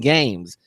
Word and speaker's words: GAEMS: known as games g-a-e-m-s it's pronounced games even though they reversed the uh you're not dyslexic